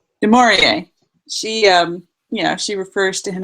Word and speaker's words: Du Maurier: Bedelia, how do you pronounce her last name? Du Maurier.